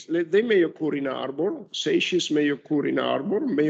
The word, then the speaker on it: seiche: Some pronunciations, some people pronounce the term as seix. I think the correct pronunciation is seiche or seichis.